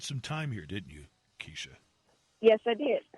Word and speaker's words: Kesha: Do you pronounce it Keisha or Kesha? Keisha. Keisha. Keisha.